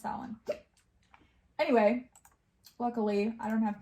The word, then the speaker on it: Samhain: It's not Samhain. Samhain. I think it's pronounced Samhain.